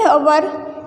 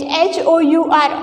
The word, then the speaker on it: hour: In hour, h is silent, h-o-u-r, hour.